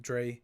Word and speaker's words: Dre: Dre is, you might not know how to pronounce it, but it's Dre.